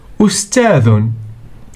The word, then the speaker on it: أستاذ: Ustadhun. Alif plus sin plus ta plus alif plus dhal equals o s ta dhun.